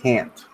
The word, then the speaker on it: can't: So in spoken English, can is usually unstressed and pronounced can. Can't is stressed and pronounced can't, with the final sound being a glottal stop.